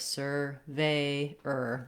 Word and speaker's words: surveyor: For surveyor, you might want to try practicing with starting on the stress syllable ve, veyor, surveyor. That can help you get the rhythm correct.